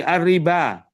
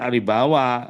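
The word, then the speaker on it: الربوا: Apalagi arriba. Ya, arriba ya di 7 tempat ya. Ya, arriba jangan aribawa, ariba itu wawunya itu alif. Al hayata, wa mal hayatud dunya itu alif yang tertulis dengan wawu. Jangan bacanya wa mal hayawatud dunya, tidak.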